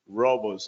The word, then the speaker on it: Roboze: Development here at Robos before we start it's pronounced Robos I guess everybody was